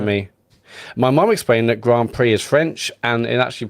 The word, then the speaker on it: Grand Prix: And explained it's actually pronounced Grand Prix because it's French.